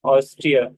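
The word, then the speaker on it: Austria: ऑस्ट्रेलिया से याद रखना है, ऑस्ट्रिया। तो लास्ट में हाउस तेरे, ऐसा नहीं पढ़ना है, ऑस्ट्रिया।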